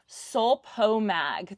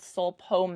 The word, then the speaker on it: Sulpomag: It's a organic rose, organic rose fertilizer, Sulpomag. That's how you'll see it on the bag. It's called Sulpomag. How do you spell that? SUL-PO-MAG. So SUL, not OL. Yeah.